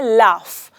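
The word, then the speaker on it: laugh: हम ये बोलते हैं तो हम कहते हैं लाफ ऐसे लगता है एंड में फ का साउंड है एफ का साउंड है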